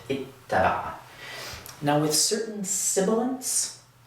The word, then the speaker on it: اتّبع: do this, where again, we double the ta, we add a shadda above it, and wind up with ittaba'a.